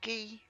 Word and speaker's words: ghee: shade than his ghee is it pronounced ghee it is pronounced ghee isn't it then I could probably